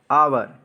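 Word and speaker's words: hour: ठीक है 9th पर देखिए सेकंड एग्जांपल है आवर आवर का देखिए इसमें क्या है फर्स्ट स्टेप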